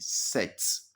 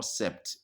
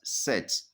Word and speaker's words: sept: But that P, you don't pronounce it. It is silent. So you normally pronounce it set. Okay, the P is silent. So it is not sept, but set.